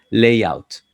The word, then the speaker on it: layout: favor en la pronunciación presten cuidado a esta pala esta palabra que tiene la combinación a y ya sea a y latina oa y generalmente eso sea pronunciar el sí por eso decimos layouts si layout entonces los